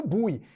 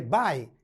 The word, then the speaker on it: buy: não é Buy não eu já vi pessoas falando bui não é Buy é bye é verbo To bye